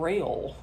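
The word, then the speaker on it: Rayle: And they also had something called Rail. I think that's how you pronounced it. Georgia. R A Y L E. It's like Gail but rail.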